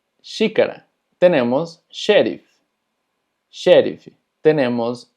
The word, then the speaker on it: xícara: Taza se pronuncia xícara, xícara.